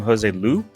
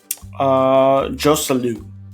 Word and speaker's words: Joselu: how do you pronounce his name? Jose Lu? Joselu.